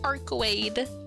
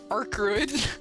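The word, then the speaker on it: Arcueid: so silly but yes her name is arade for for a few streams I was pronouncing it as arid cuz I'm stupid but it is in fact arade Senpai I call to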